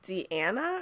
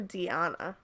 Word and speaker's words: Deanna: old what never mind what is it Deana or deanna deanna I'm sorry okay they even pronounced it for me my apologies I was